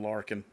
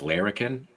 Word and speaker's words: Larrikin: And what's funny is I actually was saying Larkin the whole time until somebody corrected me. And I was like, that can't be right. Well, how is it supposed to be pronounced? Larrikin? Mm-hmm.